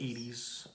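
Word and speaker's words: Edy's: I think it's pronounced Edie's. Edie's.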